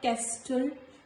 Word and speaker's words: castle: So after letter S, letter T is silent in the words like castle, not castle, castle, listen, nestle, wrestle and so on.